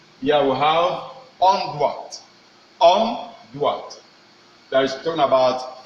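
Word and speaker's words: doigt: And let us see how the thing is being pronounced. Here we have onduat.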